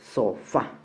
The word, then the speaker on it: sofá: Ejemplo, sofá. La mayor fuerza de voz está en la última sílaba y termina en A, por lo tanto se tilda.